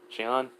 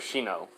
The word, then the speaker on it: Shino: I don't know why I cannot remember his name, how to pronounce his name right now. Shion? Yeah, just say Shion. But Shino.